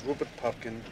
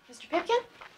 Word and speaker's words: Rupert Pupkin: want to tell you jerry my name is rupert pumpkin thanks mr pumpkin don't mess up rupert rupert